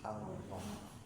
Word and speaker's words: Allah: Ya, lam itu kalau misalnya dia tebal kalau berdampingan dengan lafaz Allah gitu ya. Allahu Akbar gitu ya. Nah, kade karena kalau salah pengucapan nanti ee Tuhan yang sebelah gitu ya. Harus Allah ditebalkan gitu.